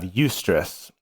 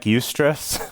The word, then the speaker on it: eustress: that's distress and then by contrast we have eustress and eustress is spelled eu stress uh and it's from the